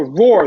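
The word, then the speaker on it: Roor: But so Roar, the reason why I'm saying Roar is spelled R-O-O-R. So maybe if you're looking, you're just like R-O-A-R, Roar. No, it's actually R-O-O-R. When I say Roar, some people get confused by that.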